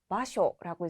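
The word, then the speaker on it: 場所: 또한 이 한자 같은 경우에는 쇼라고 장음으로 발음되는 것이 아니라 단음 쇼라고 발음되는 점 유의해 주시고요.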